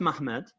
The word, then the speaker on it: Ma'amad: It's pronounced Mahmad, but it's actually spelled Muhammad.